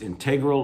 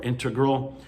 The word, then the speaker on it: integral: That word can be pronounced integral or integral, component or a piece of competition.